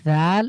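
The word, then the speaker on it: ذال: এরপরে দেখেন জাল এই জাল এবং খা এই দুটোর উচ্চারণ সেইম উচ্চারণ স্থান সেম উচ্চারণ স্থান সেম কিভাবে আমরা ফা উচ্চারণ করেছি জীবটাকে বের করে দাঁতের সাথে লাগিয়ে বাতাস বের করে পাতলা করে ঠিক একইভাবে আমরা এটাও এভাবে উচ্চারণ করব জীবটাকে বের করেন প্রথমে সামনের যে দাঁত রয়েছে সেটার সাথে লাগান এবং পাতলা করে বাতাস বের করে জাল হা অবশ্যই জিব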